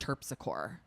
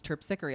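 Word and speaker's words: Terpsichore: tpickery but it was we all thought it was pronounced turpsor because that's how it's spelled. So then I thought for so long that that it was turpcor. So then when I finally heard someone say like this is the muse turpicery I was like oh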